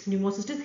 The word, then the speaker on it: Pneumocystis: pneumocystis carinii is now is known as it's pneumocystis hirovici. It's J-I-R-O-V-E-C-I but we pronounce it as hirovici.